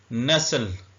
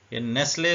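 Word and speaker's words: nestle: तौर पर रखना रह नसल नेसले इसको लोग पढ़ते हैं यह नेसले नहीं है नेसल इसका मतलब होता है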